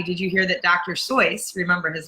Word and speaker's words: Seuss: sois remember his name his name is actually pronounced soit's not Seuss just released a new book named horse Museum